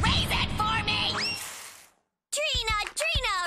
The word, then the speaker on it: Trina: it for me Arena Trina rhymes with Nina come on Trina you